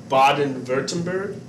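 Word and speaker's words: Baden-Württemberg: we go here to baden-wurttemberg the w is pronounced like a v so if you ever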